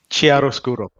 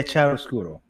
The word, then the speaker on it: Chiaroscuro: I keep forgetting how to pronounce it. Chiaroscuro. Yeah, Chiaroscuro.